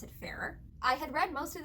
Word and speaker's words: Farrar: I believe they pronounce it Farrar.